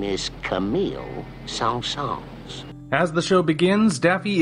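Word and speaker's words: Saint-Saëns: Pronounced Saint-Saens. The man's name is Camille Saint-Saens.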